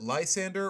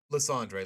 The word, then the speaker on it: Lysandre: Do you guys pronounce it Lysander or Lysandre like me?